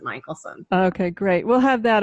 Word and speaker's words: Michelson: Pronounce it Michelson, but it's not spelled that way, I found out.